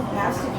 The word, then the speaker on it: pasty: If I have a pasty without it, I know the pasty's missing something.